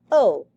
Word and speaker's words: au: the for masculine places is O and it's pronounced o just like that okay that is what